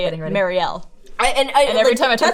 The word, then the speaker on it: Mariel: Yeah, it's technically Mariel.